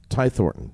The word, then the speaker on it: Thornton: do you say your last name Ty thoron Ty Thorton yep uh here it is right here